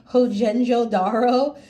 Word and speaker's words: Mohenjo-daro: You're going to do a dot on the, I hope I pronounce this right, Mohenjo-Daro, that ancient civilization that grew up along the Indus River.